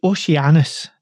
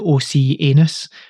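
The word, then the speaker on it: Oceanus: new Oshi yes so the oceanis not as Ricky would like to pronounce it the OC anus but this is a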